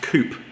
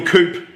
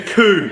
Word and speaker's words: coup: Yeah, I used to work with someone that thought it was pronounced coop. Really? Like soup, because it's spelt COUP. Oh, it's a political coup.